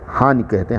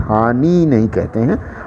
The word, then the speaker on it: हानि: हानि, नौ में छोटी की मात्रा, उसी तरह उसका उच्चारण भी होता है, हानि कहते हैं, हानि नहीं कहते हैं।